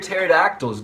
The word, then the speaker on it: pterodactyls: Why can't you hear pterodactyls go to the bathroom?" Because the P is silent.